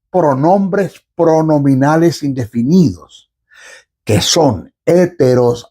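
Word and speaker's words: ἕτερος: griego hay dos pronombres pronominales indefinidos, que son héteros, h, e, t, e, r, o s, héteros y alos.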